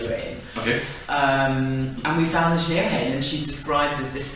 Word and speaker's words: Nc'nean: Yeah, Nc'nean. Nc'nean, and the full name is then Neachneohain.